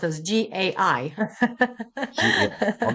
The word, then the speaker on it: gai: So, it's spelled as g a i.